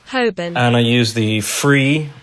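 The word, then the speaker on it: Holborn: in London called hurn um spelled hin but pronounced hobin and I use the free app polycam on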